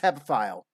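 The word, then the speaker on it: hebephile: an ebo hepa file jimmy the word's pronounced heavy file all right which by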